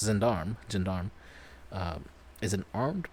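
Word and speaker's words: gendarme: it looks like um uh jindar mein uh zandarm yes so it's pronounced zindarm zindarm uh is an armed police officer in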